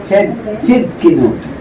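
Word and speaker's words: Tsidkenu: Chidkinu. Jehovah Chidkinu. Meaning, the Lord our righteousness. Ayun, medyo mahirap ibigkasin pala yung righteousness.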